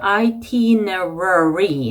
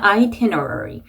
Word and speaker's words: itinerary: 이 단어가 좀 발음하기가 까다로울 수 있겠죠. itinerary 하고 R 발음이 두 개 연속으로 들어갑니다. itinerary. 그래서 R 발음 두 개 신경 써주셔야 되고 sculpture gardens 라는 단어가 나왔는데 얘도 R 발음이 들어가죠.